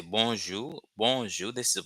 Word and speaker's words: bonjou: So when you're greeting someone, greeting expression, introducing yourself in Haitian Creole, formal ways you can say bonjour, bonjour. This is the pronunciation, not bonjour, which is French, but bonjour, bonjour, bonjour, bonjour, bonjour.